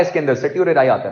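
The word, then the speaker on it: certiorari: वो कभी कभार टी साइलेंट हो जाता है, वो नाम आपका चेंज हो जाता है, वो सर्टियोरेराई उसको बेसिकली वो कहते हैं।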